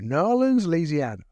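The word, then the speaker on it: New Orleans: took to newans and we learned how to pronounce it down there too nans laana and so I did a keynote on leadership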